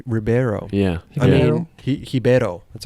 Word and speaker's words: Ribeiro: mean, Ribeiro.